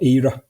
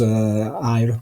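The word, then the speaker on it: Éire: more often than not, or ERA, as Ira, whichever pronunciation we want to take, but very few people just call them simply Ireland at this point in time.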